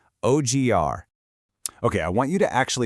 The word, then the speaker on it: odiar: Let's begin right at the lowest end of our emotional spectrum, with the verb odiar, which simply means to hate.